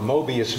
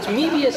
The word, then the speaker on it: Möbius: Well, it's Mebius in the same sense that amoeba is.